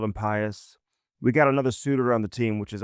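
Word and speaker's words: Suter: We got another suitor on the team, which is all that matters. Just don't call him Sutter.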